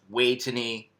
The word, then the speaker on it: Vejthani: a n i uh it's pronounced way to knee because of how uh thais pronounce the the letter v uh here and the